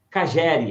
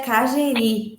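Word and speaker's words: Kageri: vocês lá na granja Cagere. É isso, Caroline? Obrigado pela sua presença, viu? Na verdade, se pronuncia Cageri, o nome da granja.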